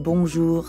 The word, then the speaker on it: bonjour: add the second part notice how the j in bonjour sounds a lot like the middle of the english word measure and the r at the end of ju doesn't really sound like an english r you should feel that r in your throat yeah almost like you're gargling or clearing your throat time for another speaking